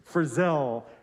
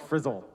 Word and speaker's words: Frizzell: And he wanted to emphasize 5 times that it's Frizzell, because I think he grew up being called Frizzle.